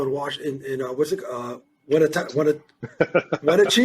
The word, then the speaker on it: Wenatchee: Wenatchee? How do you say it? Wenatchee. Nobody can ever pronounce it. Yeah, it's Wenatchee.